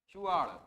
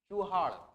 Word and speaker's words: चुआड़: चुआड़, इसका प्रोनाउंसिएशन आज के जमाने में बदल गया है। तो जैसे कि क्या होता है, आज के जमाने में आप एक शब्द सुने होंगे जो देसी भाषा में बोलते हैं, चुहाड़।